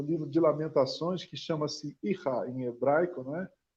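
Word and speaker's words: Eichah: O Ihá, né? Se escreve E-I-C-H-A-H, e aí teve um monte de gente aí, um monte não, algumas pessoas perguntando se era Eicha, mas não é Eicha, é Ihá, e que é uma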